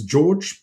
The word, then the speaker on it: Jorj: It's George, but it's a J at the beginning, J at the end, but it's pronounced as all other normal Georgees.